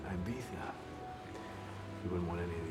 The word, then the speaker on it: Ibiza: behind though word that might get stolen it's pronounced ibiza you wouldn't want any of these folks you're